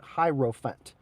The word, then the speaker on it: Hierophant: So like elephant, but Hierophant.